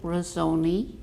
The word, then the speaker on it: Rossoni: fun and um with me I have Phil rosone did I pronounce it right yes um I have my